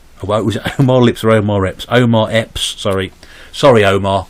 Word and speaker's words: Omar Epps: 10 Memphis Bleek Method Man n o re Omar lips I was more lips are omar epps Omar Epps sorry sorry Omar got your name